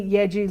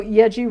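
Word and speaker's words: Yaeji: is a debut collection of recordings by kathy yeji lee originally released as a pair of eps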